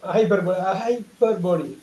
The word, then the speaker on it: hyperbole: ஹைப்பர்போலி. Hyperbole. ஹைப்பர்போலி. Hyperbole. Hyperbole. Hyperbole. Hyperbole. ஸோ ஹைப்பர்போலின்னு சொல்லுவோம். ஹைப்பர்போல்னு சொல்லக்கூடாது, ஏன்னா மேக்ஸ்ல ஒரு டேர்ம் இருக்கு.